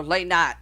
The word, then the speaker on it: Lynott: Okay, the singer Phil Lynott, or Lynott, however you want to pronounce his last name.